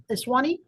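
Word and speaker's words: Esiwiny: And you pronounce that Eswani?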